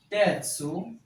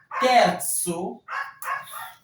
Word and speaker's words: terzo: Donc, secondo, terzo, terzo, terzo, terza, terzo. Vous prononcez Z, tso. Comme c'est un TSO, tso. Terzo.